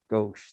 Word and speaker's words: gauche: considered gosh i don't even have how to pronounce that gauche that's how you say it it's considered a